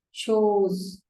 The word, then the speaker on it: chose: And the past tense is chose. இதையும் அந்த CHOSE நிறைய பேர் choose-னே வாசிக்கிறது. You should not do that.